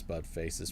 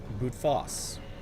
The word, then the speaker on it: Boutface: is likely that Miss Buttface's presence is relevant to the specimen's escape and to the explosion. Investigation is ongoing. I've heard also that it is not pronounced Buttface, but Boutface. It's not French.